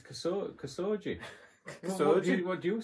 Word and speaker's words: Khashoggi: Your pronunciation of that name is classic, though. Well, yeah. It's Khashoggi.